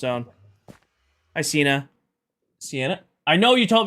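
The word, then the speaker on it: Siena: I know you told me how to pronounce it. Hi. Welcome in. Nope. Yep. Put that away there. See Anna.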